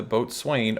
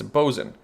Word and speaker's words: boatswain: am fully aware that this word is not pronounced boatswain it's bozen i just want to